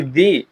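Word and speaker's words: the: একটু জানতে হবে যে এটার উচ্চারণ কি দি না? না। আচ্ছা দেখি দি উচ্চারণ হবে তখনই যদি এর পরে আমরা ভাওয়েল ব্যবহার করি। যেমন দেখেন এক দিল দি এপি আচ্ছা এখন দা উচ্চারণ কখন হবে আমরা দা বলতে পারি এরপরে যখন কনসোনেন্ট থাকবে যেমন বললাম দা ক্যাট তারপরে বলতে পারি দা মিটিং এরকমভাবে যতগুলো কনসোনেন্ট ব্যবহার করব আমরা তখন দা ব্যবহার করতে পারি আচ্ছা দি একটা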